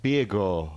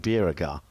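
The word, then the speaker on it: Bjerregaard: one from lucas biegor as i found out last week is the right way to say well how is it diego birgo yeah not beer agar no better than we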